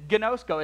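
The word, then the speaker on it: γινώσκω: It is gnosko. It's exactly what it looks like, actually. Rarely in the Greek do you look at a word and you just know how to say it. But that is actually how you say it.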